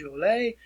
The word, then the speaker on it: Jolliet: And several of these French explorers that were involved in this, these individuals, you want to pronounce the name as Louis Jolliet, and father is Jacques Marquette.